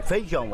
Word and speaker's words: feijão: A gente engole o I, né? Em muitas regiões, a vogal I, quando está com outra, desaparece.